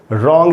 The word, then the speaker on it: wrong: अब इसमें W silent है, W के बाद R है, W वर्ड की बिगिनिंग में है तो यहाँ पर W साइलेंट है। नहीं तो रॉन्ग जैसे हम बोलते हैं, ये राइट का मतलब